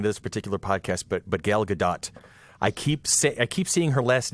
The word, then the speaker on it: Gal Gadot: And I'm told the T has to be pronounced, and so I feel bad.